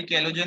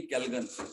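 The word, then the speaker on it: Calgon: हाँ तो सर ये NaPO3 6 ये वाला भी कैलोजन है और ये वाला भी कैलोजन है सर। कैलोजन नहीं कैल्गन।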